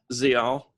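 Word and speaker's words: Ziyal: How do you pronounce her name? Zial.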